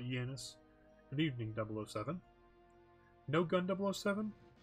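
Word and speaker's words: Xenia: yenice to show up that's how they pronounced it in the movie so I'm going to call it yenis good evening 007 no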